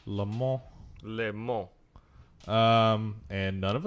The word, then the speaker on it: Le Mans: Le Mans. Le Mans.